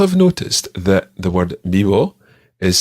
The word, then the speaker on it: vivo: In Spain, it's pronounced a sort of combination between a B and a V, and it sounds something like "rrr."